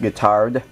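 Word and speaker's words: Guittard: I also like the I think it's pronounced guitard they're even better than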